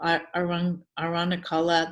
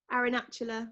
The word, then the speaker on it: Arunachala: who sat at the base of, I can't pronounce this very well, Aranachala, the mountain. Aranachala. Do you know it? Arunachala, I think.